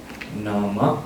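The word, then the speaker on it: nāma: Nama and rupa. In Sinhalese pronunciation we call nama rupa. In English international Pali we call it nama and rupa. Okay. A is not closed, it's open.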